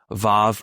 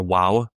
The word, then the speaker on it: vav: So like there might be some even some different pronunciations like vav or waw. Same letter.